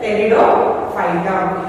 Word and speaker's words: Pteridophyta: Pteridophyta. Here P is silent. Pteridophyta.